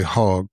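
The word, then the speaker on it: Hogg: a young man, David Hulk, who and I think it's Hulk. I don't want to say hog, but hog might be the correct pronunciation, but but David's a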